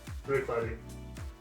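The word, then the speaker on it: Bruichladdich: CH is silent on the end. Bruicladi.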